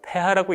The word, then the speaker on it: pH: pH라고 쓴 부분은 우리가 폐하라고 읽습니다.